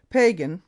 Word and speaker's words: Pagan: Pagan, pronounced Pagan, Frank, was a Blood Indian whom I engaged as a scout soon after I went to Lethbridge in 1888.